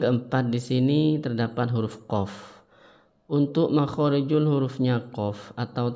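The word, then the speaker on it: ق: Terus untuk huruf qaf itu tidak boleh keluar angin.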